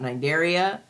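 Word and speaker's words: Cnidaria: going to talk about Nigeria the sea is silent um and you're going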